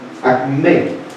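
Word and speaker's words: ἀκμή: Y está relacionado con acme, A-K-M-E, con acento en la E, que significa punto.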